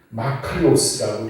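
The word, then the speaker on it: μακάριος: 이 복의 헬라어는 마카리오스라고 이렇게 발음을 하는데 4가지의 경우로 이것을 그 의미를 해석할 수가 있을 것입니다.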